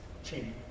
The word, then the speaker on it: Ching: The Jing, if there's an apostrophe after the CH, then it's pronounced Ching.